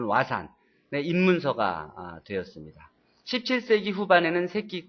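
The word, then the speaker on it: 和算: 후세에 발달한 일본의 수학 화산 일본식 발음 부르는 와산의 입문서가 되었습니다.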